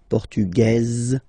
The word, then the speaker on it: portugaise: Masculine, portugais, you don't pronounce the S. Feminine form, portugaise, you pronounce this z sound, okay?